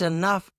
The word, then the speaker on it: enough: Enough or enough. When people are angry, they're like, that's enough, young lady. When they're angry, they pronounce that E, but it's really eh. Got it? Either one is acceptable, so don't sweat it.